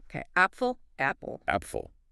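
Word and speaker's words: Apfel: Appful. Short clear a sound like ah.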